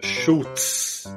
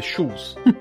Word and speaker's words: Schulz: O Escama falou, acho que umas 2 ou 3 vezes, ele falou Schultz. Eu acho que você pronunciou com T, não? Eu sempre faço isso. E tá sempre errado, é shoes.